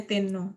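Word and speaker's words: 天皇: Ini bacanya Tenno.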